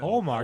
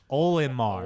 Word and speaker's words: Olimar: Omar, Omar. Captain Omar. Wait, Listen, hold on, check this out. His So name is Omar. Olimar.